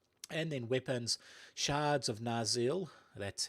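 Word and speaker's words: Narsil: cloak over it and then weapons shards of naril that's how you pronounce it which is going to act like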